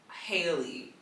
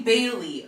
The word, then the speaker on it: Bailey: So moving on to Chloe Haley. Hi, is that how you pronounce her last name? Chloe Bailey.